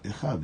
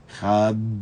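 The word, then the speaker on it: אחד: Echad em hebraico termina com D, mudo, com a letra Dalet. E os sábios falam que quando você pronuncia essa frase, você deve pronunciá-la de maneira tal, onde se expressa o Dalet de uma maneira forte.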